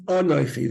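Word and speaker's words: אנכי: Here you have Asher Anoichi again, not Asher Anoichi, not Asher Anoichi. There's no ra there. The comments is not under the resh. It's Anoichi.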